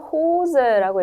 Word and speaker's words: Hose: 여기서는 호즈라고 읽었던 거, 여기도 존이라고, 쏜이라고 안 읽었던 거, 그 이유를 조금 이따 알려드릴게요.